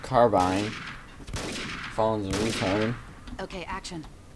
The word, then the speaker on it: carbine: Playing with the M4 carbon. The carbon. Even though it's pronounced carbine.